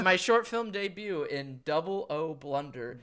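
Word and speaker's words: Oh Blunder: But my short film debut in O Blunder. O Blunder. O is spelled O-H, so O Blunder.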